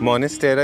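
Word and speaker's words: Monstera: मॉनेस्टेरा इज the right pronunciation, okay, I फिक्स my problem.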